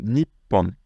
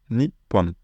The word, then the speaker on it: Nippon: les grandes le Japon le deuxième c'est neeporn ni porn le Japon en français on dit la culture nippone par exemple donc vous